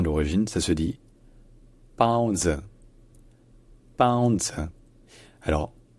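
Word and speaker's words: 包子: Donc en chinois mandarin à l'origine ça se dit pao zi, pao zi. Alors la première syllabe, le premier caractère, donc c'est en fait la première consonne, c'est plus proche d'un P que d'un B.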